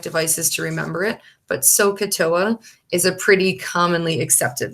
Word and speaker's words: SOHCAHTOA: shortcuts that you might actually see and it's pronounced sohcahtoa is that people will show this as so